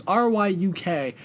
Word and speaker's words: Ryuk: It's a really like hard name to pronounce. It's Ryuk.